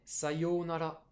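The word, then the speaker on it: さようなら: prononcer un oui s'il faut pas dire ça yuna là c'est sa yo sayonara je pense que c'est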